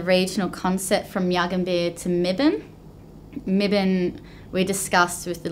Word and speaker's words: Mibiny: Is Mibin the word for the wedge-tailed eagle? And that's M-I-B-I-N with a silent Y.